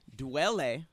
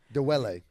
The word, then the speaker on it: Dwele: Dwele. Dwele. You said it That's right. what I said. Dwele. Dwele. I just wanted to correct you. You just said Dwele. You added an extra syllable.